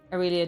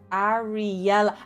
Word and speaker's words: Ariela: interested in science, um, Aurelia does science stuff as well. Sounded out by the order of the writers. Ar Ariela. Ah, yes, that's a fair point. Just pronounce it the way the letters look.